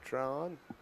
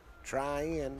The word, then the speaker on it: Tryon: Same kind of game as last week, Tim, between the Panthers and Tron. Tryon, let me get that right. Me and you pronounced it Tron all The day.